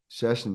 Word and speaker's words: Szczecin: Szczecin, yeah, exactly. There you go. Sorry, I couldn't pronounce it, but hey, I don't care if you messed that up.